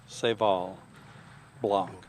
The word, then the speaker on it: Seyval Blanc: Sayvol Blanc. B-L-A. B-L-A-N-C. Not sub it. Okay. Spell it again.